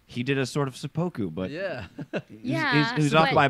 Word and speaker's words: seppuku: less, the way that they talk about the seppuku.